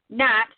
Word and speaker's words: GNAT: But one other thing that I do other than Tec Richmond is another sister page with it, NAT, spelled like the bug gnat, GNAT, Girls News About Technology.